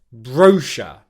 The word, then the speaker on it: brochure: of the word, because then you get the br consonant combination, which is very, very challenging. Bringing it all together, you get brochure.